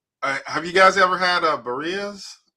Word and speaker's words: birria: Have you guys ever had birrias? Am I saying it right? Birria? How do you say it? Birria. Yes.